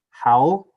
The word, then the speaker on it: Howell: off with Ryland oh my last name's how Howell okay gotcha Yesenia um poo poo okay gotcha